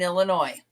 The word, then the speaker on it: Illinois: One of the things they said was when we went through the states, they would say there is no noise in Illinois.